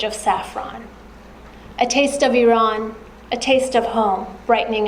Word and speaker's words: Iran: over and over again how to properly pronounce the word Iran. Iran Iran where no it's Iran. E no a no e.